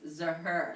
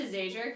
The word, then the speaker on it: Zajur: But we've talked about this in my family, how it's Zahur. Yeah, so actually, this is a fun fact. It is a fun fact. When my mom married my dad, she changed the pronunciation from Zahur to Zajur because she refused to be Lisa Zahur.